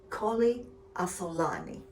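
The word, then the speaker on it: Colli Asolani: therefore supposedly higher quality yet, called Colli Assolani, pronounced Colli Assolani.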